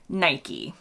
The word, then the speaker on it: Nike: would you say it rhyming with bike or rhyming with biky if you rhyme it with bike you're likely British not everyone I've encountered in the UK says it this way but it's a very popular pronunciation in the US we say almost without fail or exception Nike now the Americans have